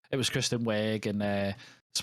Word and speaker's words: Wiig: But the one that I found was Kristen Wiig. Is it Wiig? Is that how you say it? Wiig, isn't it? From is it just Wig? Oh, I think it's just Wig, yeah. Wig.